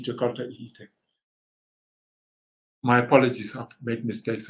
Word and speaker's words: Jakarta: have to test your why do I still say joy in Italian it's supposed to be jakota my apologies have made